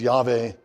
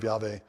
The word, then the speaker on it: Yahweh: typically translate it as yve it's a it's a way of pronouncing those four letters of the the the name of yve uh and the reason